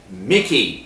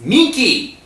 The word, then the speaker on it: Miki: Her name isn't Mickey, it's Miki!